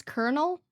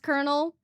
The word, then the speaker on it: colonel: How do you pronounce kernel? Colonel is a word. I hate that, dude. I hate it. I know it's pronounced colonel.